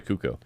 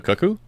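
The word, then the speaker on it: Cucco: Yeah, in this one it was basically a cuckoo. Um, a cuckoo. How do we pronounce that?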